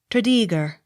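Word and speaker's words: Tredegar: that name not otherwise t r e d e g a r tredeeger accent on second syllable t r e m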